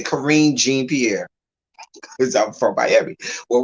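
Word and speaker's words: Karine Jean-Pierre: So I'm gonna say it like they would if you speak in Haitian Creole. Corinne Jean Pierre.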